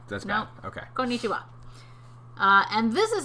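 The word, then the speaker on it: konnichiwa: it's all the same every syllable has the same emphasis no getting excited about no bit excited need you why not right let's go okay konichiwa uh and this is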